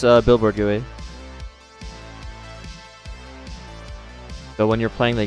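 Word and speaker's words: GUI: This it's a billboard gooey. So when you're playing the game, it follows your camera. The story behind pronouncing gooey gooey.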